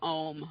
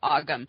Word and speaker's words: ogham: ask if you can do om which is sometimes mispronounced ogham because there's a whole